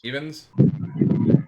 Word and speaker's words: Evens: uhit oh um EV evens because it rhymes with Stevens that's right the only